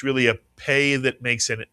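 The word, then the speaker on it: פא: P is correct and it's called the pay mitsuan.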